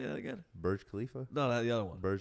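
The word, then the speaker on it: Burj Khalifa: the world how do you say that again bur Khalifa no the other one Bur alab wild [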